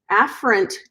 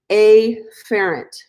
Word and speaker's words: afferent: on purpose it's it you pronounce it afferent but I like to say a ferret and the reason why